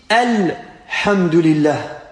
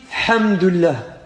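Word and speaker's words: الحمد لله: du à lui fois de l'homme ont dit el hamdoulilah elle est là les fois l'un a toute son importance il est important de prononcer le à l'uss et le lam car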